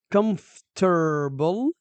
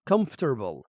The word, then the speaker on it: comfortable: comfortable بها طريقتين للنطق. وحدة نقراها comfortable بهالطريقة comfortable والثانية نقراها comfortable هذه الشائعة المعروفة بهاي الطريقة.